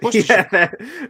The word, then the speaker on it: Worcestershire: it's that goddamn Worcestershire sauce, right? Yeah, Worcestershire.